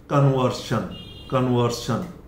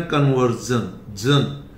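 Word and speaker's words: conversion: British में इसका pronunciation है शन, कन्वर्शन। लेकिन अमेरिकन में इसका प्रोनाउंसिएशन है कन्वर्जन। देखिए यहां पे जन दिया है, ये अमेरिकन कन्वर्जन।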